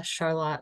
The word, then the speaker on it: Charlotte: So as Rebekkah mentioned, I'm the director of the Charlotte Library, which is spelled like Charlotte.